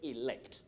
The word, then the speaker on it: elect: It begins with the letter E, but that letter E takes the short or pure vowel sound E. Enough, enjoy, elect.